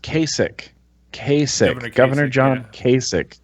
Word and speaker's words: Kasich: i believe it that is it oh it's pronounced Kasich k7 a Governor John Kasich what did you say in my vlog I'm in my vlog I was calling him cassock or casa yeah because I'm terrible at pronouncing